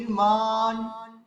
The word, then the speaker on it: নির্মাণ: আমরা দীর্ঘ উচ্চারণ করলাম নটাকে কি আমরা দীর্ঘ উচ্চারণ করব না তাহলে কি করতে হবে নির্মান মান এখানে যদি আমরা বলি মান তাহলে কিন্তু দুট হস উচ্চারণ করে ফেলেছি মান তার মানে কি